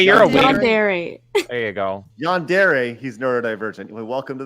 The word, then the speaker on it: yandere: you have a neurodivergent sneeze right I can't pronounce Yan is it Yan yand hey you're yere there you go yandere he's neod diverent welcome to the club let's